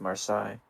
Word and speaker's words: Marseille: will think i'm stupid i'm sure that's pronounced marsai well there we go